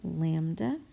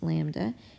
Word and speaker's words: lambda: and that is pronounced lambda that is pronounced lambda and is a Greek letter and you will see